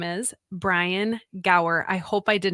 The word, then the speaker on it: Gower: guest on today and his name is Brian Gower I hope I did not completely like just